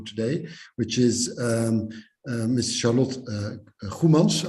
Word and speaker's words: Goemans: Charlotte Goemans. I'm going to pronounce it in a Dutch way, being a Dutch lawyer.